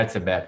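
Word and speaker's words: Hertzberger: Lições de arquitetura de um autor chamado Hermann, a pronúncia do sobrenome é sacanagem, é Herzebecker.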